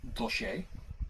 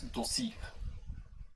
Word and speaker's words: dossier: We pronounce that as dossier. They pronounce it as dossier.